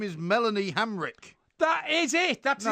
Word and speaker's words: Melanie Hamrick: child, we're talking about Milana Hemerack. Incorrect. No! It is Melanie Hamrick.